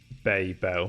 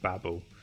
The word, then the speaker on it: Babel: anyway what was this bay bell from hitchhiker's side of the galaxy or the developer says it's pronounced babble oh here we are